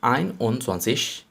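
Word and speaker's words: einundzwanzig: clear to you so 21 means iron on swanseash and it's swansish this is the correct pronunciation try more and more and this pronunciation will be correct for you too and further 22.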